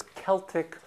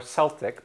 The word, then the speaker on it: Celtic: is from Ireland so we can say this word as Celtic or Celtic both pronunciation coming from Scotland or Ireland and then if I